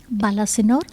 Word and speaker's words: Balasinor: read that you were born in is it pronounced balasinor balasinor balasinor okay so in the state of and